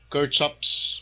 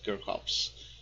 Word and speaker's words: Kirchhoff: by gustav kirkhopes okay some uh faculty some professors uh read this one as kurt shops but i used to pronounce this as kirkhops okay so um this